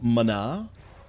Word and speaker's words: mana: Let the healer get some mana. That's the proper pronunciation, by the way, if you didn't know.